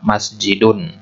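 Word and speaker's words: مسجدٌ: Nah, begitu juga masjidun. Nulisnya yang benar begini. Tapi kalau kita ucapkan seolah-olah begini deh. Masjidun.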